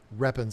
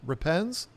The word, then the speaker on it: repens: It has a whole lot more red in it, and that would be the Ludwigia repens. Some people pronounce it repens. I say repens because I think it sounds better.